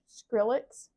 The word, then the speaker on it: Skrillex: the only STX how do you say it skrillix skrillix yes I think that's the only song